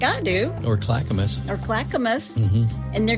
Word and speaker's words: Clackamas: the town well it's I think it's pronounced Clackamus it's c l a c k m a s Clackamus the Clackamus Kohls yes